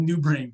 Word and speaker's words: NeuBrn: Yeah, and it's called New Brain. So we creatively named it, but it's not spelled new. It's spelled NEUBRN. So new as in French, NEU, and then BRN for brain.